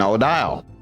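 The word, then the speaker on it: Odile: Yeah, it's Sabo and Odial. There you go. Now, now I know how to pronounce it.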